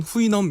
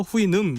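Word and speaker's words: Houyhnhnm: 나라의 이름입니다 네네 어 보통은 후이넘 이렇게 많이 얘기하셨는데 어 이제 원어 발음으로 해서 후음 이렇게 이제 발음하고 있는데요 우리가 보통 걸리버 여행기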